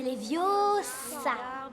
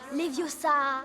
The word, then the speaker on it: Leviosa: Et puis d'ailleurs, tu ne sais même pas le prononcer. C'est Leviosa. Et pas Leviosa.